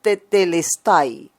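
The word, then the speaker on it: τετέλεσται: Una expresión griega que se pronuncia tetelestai, dando a entender que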